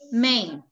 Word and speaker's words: main: Main. Main. So. So in the first one, the letter A stands for the sound. A, main. What happened with the letter I? Is silent.